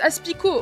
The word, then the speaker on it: Aspicot: on sauvegarde directement tu prononces pas le thé pour ah c'est juste Aspicot ok ok bah merci